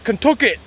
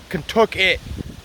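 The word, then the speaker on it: Contoocook: you ask the locals they'll tell you it's kentucky it's an old indian word contookit it's spelled literally c-o-n-t-i-c-o-o-k cook and they say it's contookit can took it it at the end with a k it's an old indian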